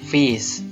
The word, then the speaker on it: fis: Jadi apabila ada suatu huruf atau suatu nada diberi tanda crest, dibacanya diakhiri dengan kata is ya. C jadi cis, D dis, F fis, dan seterusnya.